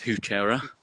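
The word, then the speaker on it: Heuchera: I heard someone pronounce hookerah as hoochera. Oh. Hoochera. Yeah. And I'd never heard that before. I've heard hoochera. I think they were trying to pronounce it as like a French. Probably is French.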